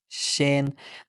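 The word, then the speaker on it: 心: written as this way and in Chinese we pronounce it as Shen this radical shows up in many characters related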